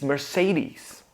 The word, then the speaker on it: Mercedes: It's Mercedes. Mercedes. Now we start this word by saying a simple mer.